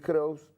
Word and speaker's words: Crous: Entre ellos, Félix Kraus, que es Kraus con catalán. Sí, ¿cómo se escribe? Catalán. Bueno. ¿Cómo se pronuncia? Cruz. Sí, como más te guste.